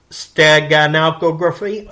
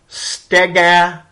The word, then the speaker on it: steganography: This would be a watermark, forensically traceable or trackable data, steganography. Okay, I can't pronounce the word. Okay, it's steganography.